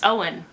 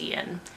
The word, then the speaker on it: Eoin: It's Eoin. I would have guessed Ian, because Gaelic is not phonetic to English, and that's the world we live in.